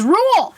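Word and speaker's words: Ruel: Tolkien, the second R is Rule.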